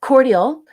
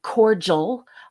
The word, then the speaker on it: cordial: of the way um cordial and cordial are the same word um but in my country we don't pronounce the the D as a j like they do in the United States so if you're hearing